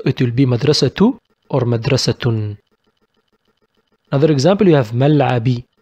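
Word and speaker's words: مدرسةٌ: We write it with double ضمة without ن but we pronounce it with ن.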